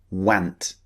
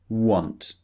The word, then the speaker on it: want: some spellings so want some people might be tempted to use those the pronunciation went which is wrong obviously we know it's an O sound want so just keep this